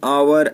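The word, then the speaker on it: hour: H silent रहता है, जिन शब्दों में एच साइलेंट रहता है उनसे पहले एन का प्रयोग किया जाता है, जैसे एन आवर, an honest man.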